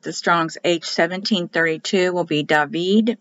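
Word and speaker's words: דוד: So if you look up the Strong's, H-1732 will be David. Remember, the I is pronounced like an E. Remember, they read right to left, and they start at the top and go down. D, David.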